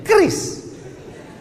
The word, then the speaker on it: QRIS: QRIS. Cara bacanya gimana sebetulnya? Kris. Q-nya quick. Quick artinya cepat. R-nya response. Kris, quick response code.